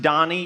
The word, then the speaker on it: Donnie: name is donnie it's pronounced donny even though it looks like danny i just want to